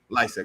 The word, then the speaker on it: Lisec: say that your last name like hack yeah licik okay i would have said it right nice